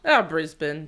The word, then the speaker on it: Brisbane: How do you say Brisbane? Brisbane, but it doesn't really matter.